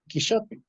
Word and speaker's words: quixotic: word of the night, Quixotic. And this is an image related to that Quixotic task. So sorry to barge in. The correct pronunciation is quixotic.